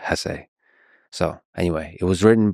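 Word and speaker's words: Hesse: and by the way please allow me this pronunciation of his last name I've heard some people say Hess but my whole life I've always said Hess so anyway it was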